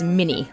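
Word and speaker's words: Minié: Most Americans pronounce this round as mini, like the mouse. But the guy who invented it was French, so Manet is probably more correct.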